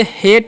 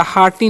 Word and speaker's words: heart: तो इसे हेट या हार्टी नहीं बना, इसे हार्ट पढ़ना है।